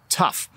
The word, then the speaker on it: tough: hear how it sounds tough tough my tongue is actually on the roof of my mouth when I say that word tough and it makes a an F sound at the end tough genes are tough